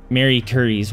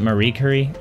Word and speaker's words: Marie Curie: radiology thanks to that thanks to Mary Curry's work who took thousands of x-rays of the wounded isn't it Marie Curie did I pronounce that wrong nobody take